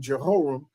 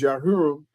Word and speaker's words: Jehoram: Yah Hiram, King Yah Hiram or you call him King Jehoram. But the the correct pronunciation is Yah Hiram.